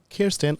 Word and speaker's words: Kirsten: Her name is Kirsten. I hope I pronounced your name right.